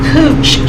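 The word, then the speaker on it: couch: is we're going to add a cooch sheet now this is spelled c-o-u-c-h now you want to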